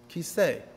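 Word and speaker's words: כיסא: The Aleph is always, almost always a silent letter. For example, you're sitting right now on a kiseh. That's what it's called. A chair is called a kiseh.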